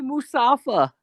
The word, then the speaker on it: Mustafa: They say Mustafa. I'm like, why do you say it like that? They're not like hard pronouncing the T. They're like Mustafa.